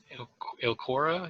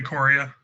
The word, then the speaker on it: Ikoria: Use a little bit of the new Ilcora. Is that how you pronounce it? Flavor. Ikoria. Ikoria. right?